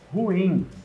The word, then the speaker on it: ruim: Muita gente fala ruim, né? Mas o certo seria não. O certo é ruim.